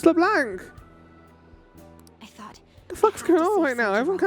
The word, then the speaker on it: Leblanc: It's not Leblond. It's Leblanc.